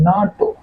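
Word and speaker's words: NATO: अन अ तो N unidentified flying object there we आर नाटो country हम एक साथ उच्चारण कर रहे हैं एज ए वर्ड नाटो क्या बोले नाटो कंट्री नाटो एक साथ उच्चारण कर रहे हैं ना क्या है ना वी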